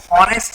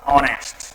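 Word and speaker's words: honest: इसको पढ़ते वक्त अपन हॉनेस्ट नहीं पढ़ते हैं, है ना। क्या हॉनेस्ट पढ़ते हैं, नहीं पढ़ते हैं। इसको पढ़ते वक्त इसका जो प्रोनाउंसिएशन होगा वो होगा ऑनेस्ट।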